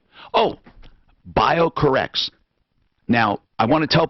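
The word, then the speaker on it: BioCorRx: he is with bio core is is the pronunciation bio core rx bio correct Oh bio corrects now I want to tell people the website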